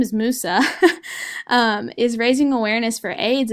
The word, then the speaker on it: Musa: this issue and Musa I've been pronouncing his name wrong I'm sorry his name is Musa is raising awareness for AIDS in this movie